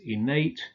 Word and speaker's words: innate: exceptions as usual the the adjectives innate sedate ornate are stressed on the final syllable and yes well they